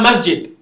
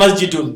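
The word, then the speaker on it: مَسْجِدٌ: Hada masjid. Instead of masjidun, there's a masjid. Is that okay? Hada masjidun or masjid.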